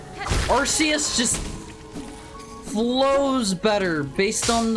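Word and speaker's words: Arceus: Okay, I know it is meant to be pronounced Archus, but it is it's Arus just flows better based on the spelling of the word.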